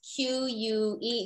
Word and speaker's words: Que: okay okay yeah well my name is Q pronounced q-u-e excuse me spell q-u-e um many people know